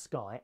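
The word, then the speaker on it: Skai: The passenger-carrying model of the Sky, pronounced Sky, S-K-Y, spelled S-K-A-I, was unveiled last week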